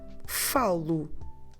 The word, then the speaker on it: falo: first person I speak, my ending must be O. O that we pronounce U. So I speak is falo.